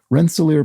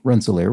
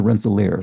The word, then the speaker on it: Rensselaer: rensselaer rensselaer is pronounced rensselaer which is why i'm saying it correctly this time with the stress on the last syllable ah so rensselaer sorry i wasn't even